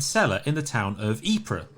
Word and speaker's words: Ypres: in the town of Ypres or wipers depending on your pronunciation and setup the post